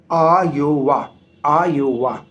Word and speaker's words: आयोवा: यात्रा वृत्तांत में सिर्फ इनने कहा कि एक बार आओ इसलिए बोल रहा हूँ कि एक्चुअल में इसका जो एग्जैक्ट प्रोनाउंसिएशन है वो है एक बार आयोवा।